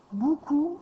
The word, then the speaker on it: beaucoup: Souvent, il y a des gens qui prononcent pas bien le mot beaucoup et qui vont dire beaucoup au lieu de dire beaucoup. Donc, il ne faudrait pas que tu décides de mettre un ou parce que c'est pas bou, c'est beau, beaucoup.